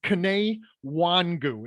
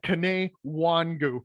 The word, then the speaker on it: Kene Nwangwu: primarily kick returner uh kane wangu and i apologize if that's not actually how you say his name um but i believe that is how it is said uh kane wangu um from iowa state